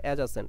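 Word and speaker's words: adjacent: এভাবে বলবো এডজাসেন্ট বলবো এডজাসেন্ট ঠিক আছে বাট উচ্চারণটা হবে এডজাসেন্ট এনিওয়ে সন্নিহিত কোণ কি কোণ কি বলছিলেন জানি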